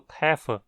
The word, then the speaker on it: treffen: Uma exceção é o verbo treffen, onde o R é mudo apesar de a consoante que segue ser um F e não uma das mencionadas antes.